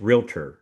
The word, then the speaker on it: realtor: There's no A like realtor. It's realtor. So say we all, and I've done it too 1,000 times. We put that extra syllable in.